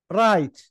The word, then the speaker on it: write: في على قمه الصفحه رايت رايت رايت دبليو لا تنطق رايت رايت رايت رايت